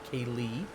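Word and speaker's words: céilidh: the word derives from the Gaelic word uh Kaylee which is spelled very similar it's uh c-e-l-i-d-i-h Kaylee which means a social Gathering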